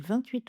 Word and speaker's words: vingt-huit: 28 hôpitaux. Donc avec un mot qui commence par une consonne, le T est muet.